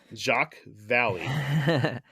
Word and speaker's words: Jacques Vallée: You pronounced it right. Jacques Vallée.